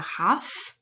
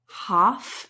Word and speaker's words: half: fraction is pronounced a half a half you don't pronounce the l and you can you